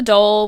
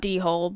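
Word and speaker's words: dhole: So, next we're going to be talking about the doll, which is spelled dehole. Get your funnies out now. Um, grow up. It's not dehole, but it is kind of funny.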